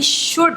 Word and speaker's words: should: SHOULD शुड, इसको भी अक्सर बच्चे रॉन्ग पढ़े होते हैं, इसको शुल्ड पढ़े होते हैं। जब भी OULD साथ में आ रहा होता है तो उसमें L हमेशा साइलेंट होता है, मीन्स शुड, सॉरी L हमेशा साइलेंट होता है, मीन्स शुड, वुड, कुड।